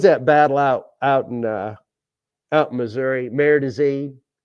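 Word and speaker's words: Marais des Cygnes: What was that battle out in Missouri, Merdazine, and it's French, and it's spelled nothing like it sounds.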